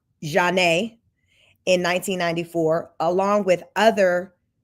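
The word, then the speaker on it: Zhané: There was Craig King, who produced on R&B duo Zanae's breakout album, pronounced Janae, in 1994, along with other 90s acts, later working with the likes of Ludacris, Kanye West, Wiz Khalifa, among others.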